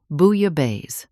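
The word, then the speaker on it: bouillabaisse: It's French Ana. Booya Bay.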